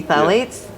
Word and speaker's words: phthalates: study that Sally with the p the silent P phthalates are contributing to the